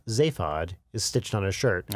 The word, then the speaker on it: Zaphod: The name Zaphod is stitched on his shirt. I pronounce it Zaphod. In the British, stuff, it's pronounced Zaphod.